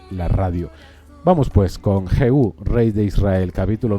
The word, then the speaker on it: Jehú: Se pronuncia así, Juan Mari, Jehú.